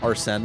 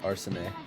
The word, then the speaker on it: Arsène: But, funny that you bring up Lupin the Third King franchise, because isn't it Arsène Lupin?